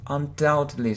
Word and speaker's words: undoubtedly: mispronounce this word undoubted undoubtedly so we don't pronounce B so it's like doubt so don't pronounce B